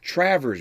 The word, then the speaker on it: Travers: his father his father Travers Bell and I always uh make sure make sure people pronounce pronunciate that first name correct it's not Travis not Travis it's Travers Travers Bell it's a matter